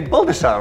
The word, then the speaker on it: Baldassarre: Teddy Baldassarre. AKA Baldassarre, right? You're actually more correct in the actual pronunciation.